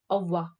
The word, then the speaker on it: au revoir: And when you have to say goodbye, you'd say au revoir. Au revoir. The word is actually au revoir, but the revoir, the re is really silent, so it always sounds like au revoir.